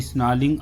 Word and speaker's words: snarling: Fangs, दांत, villagers, snarling, roaring, यहाँ पर आर साइलेंट है बेटा। He should be स्नालिंग around houses, यानी कि यहाँ पर भी टाइगर इन द फॉरेस्ट को ही डिस्क्राइब किया गया।